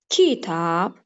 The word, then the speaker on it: kitab: Kitab. Eğer uygun gelmezse, deyirəm kitab. İkinci hecanı daha kuvvetli telaffuz etdiyim için, demeli vurğu ikinci hecaya düşdü.